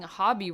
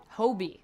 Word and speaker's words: Hobie: apparently I've been saying hobby wrong because it's Hobie is how they were saying it I was like oh okay so Hobie Brown so I guess that's how we say that never heard that pronunciation